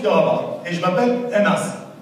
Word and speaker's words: Anas: Et je m'appelle Anas. Anas, attention, ça s'écrit UN, plus loin, AS.